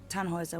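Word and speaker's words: Tannhäuser: why what's your name tanhauser we'd pronounce it tanjoyza with an umlaut german roots yes my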